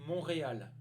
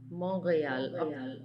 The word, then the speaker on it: Montréal: à la prononciation de la ville on ne prononce pas le thé en français on dit montréal montréal montréal d'accord numéro 5 qui nous a un est